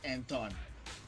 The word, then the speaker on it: Anton: Oh, it's pronounced Anton.